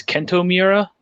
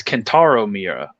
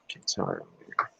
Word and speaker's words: Kentaro Miura: I think its name is Kento Miura.